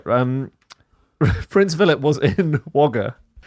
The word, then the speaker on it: Wagga: Which we've talked about before cuz it's spelled Wagga Wagga, but it's pronounced Wagga.